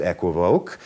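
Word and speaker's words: equivoque: it is sometimes called equip okay and I'm asked frequently if that's the proper pronunciation to which the answer is both yes and no the word in French is pronounced equi voke so a qu okay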